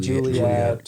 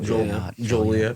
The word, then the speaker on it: Joliet: illegal to mispronounce Joliet. I think probably people call Joliet. it Juliet or Joliet. Joliet.